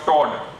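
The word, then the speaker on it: Toldt: The name of the anterior layer of renal fascia is called fascia of Todd, T-O-D-L-T. L is silent. So fascia of Todd.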